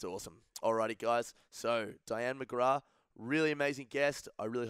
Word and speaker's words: McGrath: The name McGrath rhymes with me and ma.